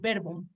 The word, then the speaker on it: verbum: Nomen et verbum. Ahora fíjate, ya estamos bien considerando que esta es una U, nada más que siempre se pronuncia como U en la pronunciación clásica que estamos haciendo.